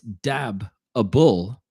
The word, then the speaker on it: dabbable: always gets me because the word is spelled d-a-b-a-b-b-l-e so it's dab a bull but how it's set up phonetically it looks like the babble so it you